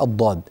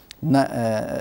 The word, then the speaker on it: الضاد: ان تضبط بشكل صحيح الض الض هكذا تنطق الضاد الضاد الضاد نلصق اللسان في الحنك الاعلى بما يحاذي الاضراس اذا حافتاه اللسان مع ما يحاذيها من الاضراس العليا هذا هو موضع خروج الضاد طيب ما هو الاشكال